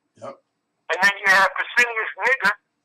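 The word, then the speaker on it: Pescennius Niger: And then you have Pesinius Niger. Like I said, that's how you pronounce his name.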